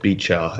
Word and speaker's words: Beecher: Well, first of all, let me tell you a bit about Beecher, as his name is properly pronounced, as he'll tell you repeatedly with a big frown.